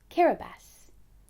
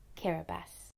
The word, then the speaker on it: Kiribati: of islands called ding that's pronounced Kira bass let's say it together one more time karabus Cara Beth has a population of